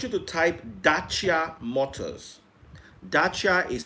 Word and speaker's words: Dacia: yeah i want you to type dacia motors dacha is spelled d-a-c-i-a or just type dacha motors yes